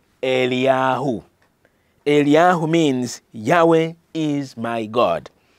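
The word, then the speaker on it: אליהו: the reason why his name in Hebrew is pronounced eliyahu aliyahu means Yahweh is my God my God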